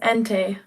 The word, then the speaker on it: Entei: Oh, my name is pronounced Entei. It's a Pokemon.